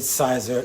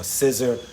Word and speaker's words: Siser: Now, I know a lot of you, and I'm guilty as well, have become avid Siser HTV users, or Siser, however you want to pronounce it.